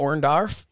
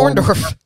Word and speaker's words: Orndorff: and dark matches uh he did face paul orndarf orndarf that's an interesting way to pronounce his name paul orndorff for the wcw world title